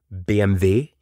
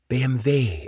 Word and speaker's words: BMW: beginning of this podcast the German pronunciation of BMW BMV BMV it just rolls nicely off the tongue BMV so if it